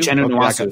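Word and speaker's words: Nwosu: Is it pronounced Nwasu? Nwasu from USC.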